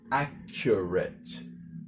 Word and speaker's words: accurate: So almost think of it like the first C is silent and the second C is just like a K or a hard K.